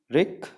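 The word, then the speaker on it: wreak: pronunciation वैसे इसकी रीक होती है, तो आप रैक को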